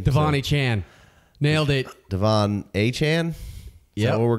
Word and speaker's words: Achane: Is it not a Chan? It's like Jackie Achane. Someone was like in the comments, it's spelled Achan. And I was like, actually, it was just the letter A. And I was like, no, it's A-Y-E. It's Achane.